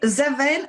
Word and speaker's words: Zyzven: do you pronounce it i know it's seven as in seven seven naturals um but um they